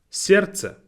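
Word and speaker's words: сердце: word to pronounce yazic then we have certa means your heart again not a very easy word to pronounce we have a lot of kind of sounds but in this one letter d is silent as you can read on the screen it has a d in it but it's just simply then we have uh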